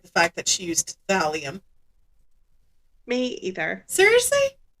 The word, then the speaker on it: thallium: I do not like the fact that she used thallium. Me either. Seriously? Thallium is so 1900s.